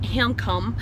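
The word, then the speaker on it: Hjemkomst: up we enjoyed our drill it is actually pronounced income which is Norwegian or homecoming so I'm going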